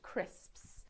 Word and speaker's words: crisps: give you that one crisps is a notoriously difficult word for learners of English it's the sound at the end crisps you'll yes yes yes